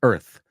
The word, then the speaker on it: Earth: La palabra Earth, insisto, tienes que verla en tu cabeza sin la A. ¿A que se pronuncia mejor así? Earth.